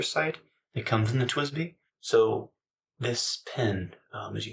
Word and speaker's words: TWSBI: And I know some people pronounce TWSBI TWISBI, but it's TWSBI.